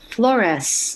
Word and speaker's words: Flores: because i would say my last name is with an s flores not flores right because they're f-l-o-r-e-z's in the phone book but i'm a flores so she said well